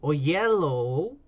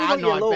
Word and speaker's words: Oyelowo: David Oyelowo. I bet you were wrong. I bet you he grew up in the States and they all told him the wrong pronunciation, and he's like, actually, it's pronounced Ayalawa.